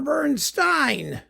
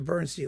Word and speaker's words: Bernstein: Next, uh Elmer Bernstein supposed to Bernstein. Zoner Bernstein and Elmer Bernstein. They pronounced it differently so you wouldn't confuse them because they weren't related. The Magnificent Seven, of course, it has to be there, doesn't it?